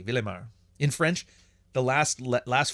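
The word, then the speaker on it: Ville-Émard: Oh no, they don't pronounce the D. Villemard.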